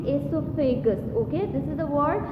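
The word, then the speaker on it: oesophagus: O is silent and you will be pronouncing it esophagus.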